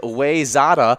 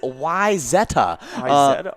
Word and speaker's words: Wayzata: yeah so for me i'm going to pronounce it wayzata wayzata well the common mints pronunciation is wayzada uh actual pronunciation is why zetta yes okay uh totally